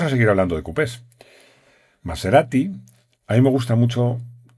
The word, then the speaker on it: Maserati: Maserati, a mí me gusta mucho cómo se dice en italiano, porque en los españoles decimos Maserati y ya está. En italiano se arrastra más esa S.